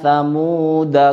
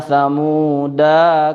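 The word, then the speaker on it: ثَمُودَ: Semua tulisan samuda daknya dibaca pendek. Jadi membacanya inna samuda kafaru. Tidak dibaca begini. Ini contoh yang salah. Inna samuda kafaru. Tidak seperti itu.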